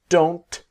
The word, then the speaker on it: don't: I, you, we, they don't have. Okay. What I want to show you in this module is the T is silent.